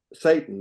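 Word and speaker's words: Ceyton: Christina Satan, the film's producer, it's a great name for a producer of a horror film.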